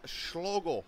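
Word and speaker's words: Schloegl: name all night hans schlogel i believe todd's pronounced s-c-h-l-o-e-g-l there's another duck on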